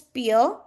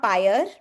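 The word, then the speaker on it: pier: The word is, the pronunciation is peer, right? It's not pyre.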